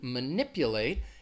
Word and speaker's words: manipulate: a verb to manipulate it has four syllables and the first syllable is gonna have that schwa sound that ma ma ma nip you late so can you hear where the stress is manipulate manipulate it's on that second syllable that ni P manipulate manipulate alright so